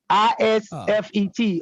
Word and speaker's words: isfet: ISFET, according to the way these Egyptologists pronounce it.